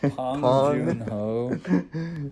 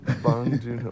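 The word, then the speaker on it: 봉준호: Pong Joon-ho. Bong Joon-ho, Pong Joon-ho.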